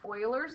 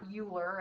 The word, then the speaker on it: Euler: Here is a video on Euler's method. That's not Euler, it's pronounced Euler.